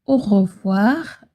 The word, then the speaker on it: au revoir: Pour le mot au revoir, ne dites pas chaque lettre très rapidement. C'est comme ça que les natifs le disent.